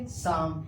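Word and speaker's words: psalm: साम। एम से पहले एल भी साइलेंट है। और एस से पहले पी भी साइलेंट है। तो राइट प्रोनंसिएशन क्या हो जाएगा? साम।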